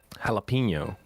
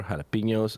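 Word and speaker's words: jalapeño: So I would use the English pronunciation a lot of the time, and I just always thought that for jalapeno it was jalapeno, right?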